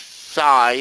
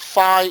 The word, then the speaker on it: phi: you twist it, yeah, it's called phi or phi. But it's really sounds like F-E-E-A-Z. The true pronunciation is F-E-E, but a lot of people call it phi because that's how it is, but it's really called phi. That's the correct pronunciation. So I call it phi. It's either or, it doesn't matter.